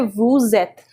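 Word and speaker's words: vous êtes: a one thing here the liaison takes place because this is a consonant and this is a vowel and we don't generally pronounce this consonant so again the concept of laser comes in so you say woo zet so joshui means i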